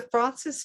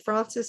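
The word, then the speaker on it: Fraunces: and it is the francis tavern museum so let me tell you a little bit about that so you can understand the george washington connection uh like i said francis is spelled f-r-a-u-n-c-e-s tavern museum dot org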